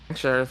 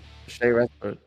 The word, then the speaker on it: Sharif: Sheriff. Thanks so much, Sharif. Sharif. Okay, that's how it's pronounced.